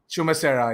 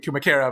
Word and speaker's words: Chumacera: Team 4F have decided to go close towards I think it's pronounced as Chumacera. Yeah, I was about to say Kumakera, but yeah, my bad.